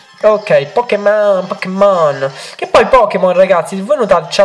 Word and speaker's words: Pokémon: Che poi Pokémon, ragazzi, voi notate, c'ha l'accento sulla E.